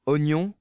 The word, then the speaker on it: oignon: D'ailleurs, j'ai entendu quelqu'un dire oignon en deux syllabes bien détachés, ça aide pour éviter le oignon trop rapide qui accroche.